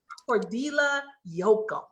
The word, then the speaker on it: Cordila Jochim: Cordila Jochim.